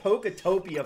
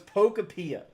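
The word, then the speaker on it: Pokopia: I've been calling it Poctopia for the longest time and it was Pocapia.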